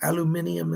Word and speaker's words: aluminium: Commander Ashtar is asking me to talk to you about studying metals like gold, silver, aluminum, or aluminium, as the British say.